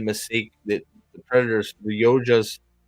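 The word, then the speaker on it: Yautja: that the predators the yojas is it yoja god I'm never gonna pronounce it right yaucha the yaucha's fucking father made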